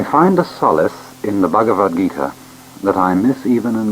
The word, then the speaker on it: Bhagavad Gita: classics of india the bhagavad-gita or bhagavad-gita song the song of the lord it is spelled b h a g a v a d bhagavad gita g i t a